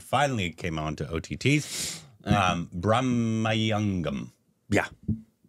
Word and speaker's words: Bramayugam: Bramayugam. Yeah. Bramayugam. How would you pronounce that?